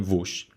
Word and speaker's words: vos: Pay attention to the pronunciation of vós as a subject pronoun and the direct object pronoun vos.